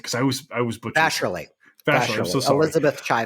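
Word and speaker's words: Vasarhelyi: How do I pronounce her last name? Because I was butchering. Vasherly.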